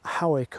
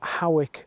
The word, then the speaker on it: Howick: The gentry here pronounce Howick as Howick, but the local people call it Howick.